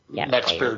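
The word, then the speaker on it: Max Baer: Brawn on this one so I went with Max bear is that right is how do you say his name B Bear yeah Max bear Jun yeah from The Beverly Hillbillies yeah yeah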